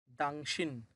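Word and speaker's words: 당신: দাংশিন।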